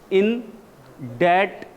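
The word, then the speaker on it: indebted: ये लिखा है बी, लेकिन ये साइलेंट है. ये पढ़ा जाएगा इन डैट, इन डैट, बी खत्म. इंडेटेड, इंडेटेड.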